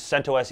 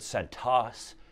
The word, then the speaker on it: CentOS: say the other ones because centos is the only way to say this no but i've heard santos santos cinto s no i'm just kidding um it doesn't matter though centos is the right way to say that i don't care what